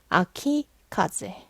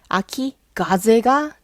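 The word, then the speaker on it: 秋風: 예를 들면 요런 거죠 아키카제 자 여기 카제이 뒤에 땡땡이 있어요요 카는 아니지만이 단어 자체에 땡땡이 있어요요 한자 바람풍 일모 음 맞죠 카제 근데도 불구하고 얘는 그냥 아키카제 아키 가제가 되지 않아요 왜냐면 발음이 어려워져요 이미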